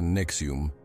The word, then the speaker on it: NXIVM: El caso de NXIVM, se pronuncia Nexium, es un ejemplo alarmante de cómo líderes carismáticos pueden manipular mentes y llevar a sus seguidores por caminos de oscuridad.